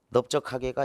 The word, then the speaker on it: 넓적하게: 그 다음에 20번 2015 B형 13번 문제 중에 넓적하게가 있다. 2015 B형 13번에 넓적하다는 이 비읍이 발음이 돼요.